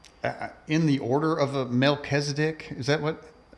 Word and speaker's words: Melchizedek: You know you said that uh you're in the order of a mechdc. Is that what how do you say that? Melkisedc.